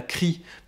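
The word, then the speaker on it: chrie: Le troisième exercice que je vous propose, c'est un exercice de rhétorique antique qui s'appelle la crie. Et donc crie, ça s'écrit C-H-R-I-E.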